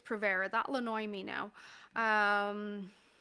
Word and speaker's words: Provera: And most progesterone that's prescribed here is Provera. I think I'm pronouncing it right. Provera.